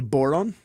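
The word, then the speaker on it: bodhrán: Well, I brought the Irish drum, which is called the boron. Conveniently rhymes with moron.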